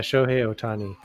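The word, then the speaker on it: Shohei Ohtani: 2021 it was oh sh how are you pronouncing that okay okay yeah show hey otani yeah tony he was he was a good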